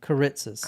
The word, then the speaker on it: Kiritsis: media played the event into the life of Kiritsis himself. How do you pronounce the name? Kiritsis.